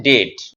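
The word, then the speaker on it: debt: নয় এটা ডাম ডিবিটি এটা কিন্তু ডেপ নয় এটা হচ্ছে ডেট আর এর কারণটা তো তুই জানিস এম এর পর বি আছে স্যার আর না থাকুক থাকুক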